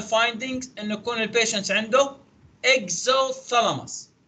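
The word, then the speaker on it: exophthalmos: كمان من الابنورمال فايندينجز انه يكون البيشنت عنده اكزوثالاموس، هيك تلفظ البي سايلنت اكزوثالاموس، زي اللي هو جحوظ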